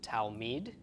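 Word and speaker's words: תלמיד: D of the gullet it's altogether pronounced towel Mead towel Mead and towel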